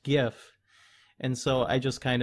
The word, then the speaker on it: GIF: to a Giffen Jeff I pronounced it Jeff for the longest time because that's just how I read it and then yeah just like common perception common opinion came up that it's supposed to be pronounced gif and so I just